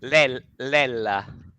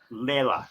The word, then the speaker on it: Lella: Lella. Leila. It's Okay. it's Lella, Lella, and it's probably a short for Gabriella or Antonella or Okay.